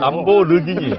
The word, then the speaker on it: 람보르기니: 사람들이 이렇게 번 돈으로 람보르기니 발음 좀 잘하세요. 발음도 잘 안 되시고. 람보가 아니고. 람보르기니. 네, 없으세요? 이런 차는 저는 구경도 못 해봐가지고 람보르기니 뭐 한 대에 7억 원?